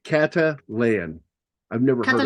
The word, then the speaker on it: Catalan: Uh, but it's C A T A like Katalan. I've never heard Catalan.